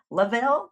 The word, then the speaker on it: Lovell: guest is Lavel. Lavel, how do you say your last name? I didn't even ask. Yes. Yes. Emphasis on the word love.